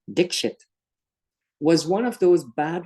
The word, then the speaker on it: Dixit: The rest of the class were robbed of laughter as a release of tension because the teacher, Mr. Dixit, actually pronounced Dixit, was one of those bad ones, a beater.